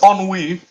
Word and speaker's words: ennui: I for a long time I spell it ennui. It's ennui.